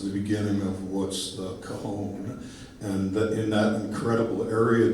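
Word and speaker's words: cajón: Now, for those of you that have not seen one of these before, it's called a Cajun, right? A cajon, right, is how you pronounce it.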